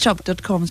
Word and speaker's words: Tschopp: name interest rope calm I'm just chop chop spelled with the T SCH Oh double P right that's right okay